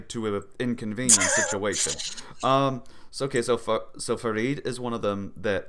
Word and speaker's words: Farid: how do you pronounce that, by the way? Farid, yeah.